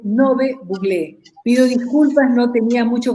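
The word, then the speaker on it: Ngäbe-Buglé: Bienvenidos a la comarca Nove Buglé, que se pronuncia correctamente Nove Buglé.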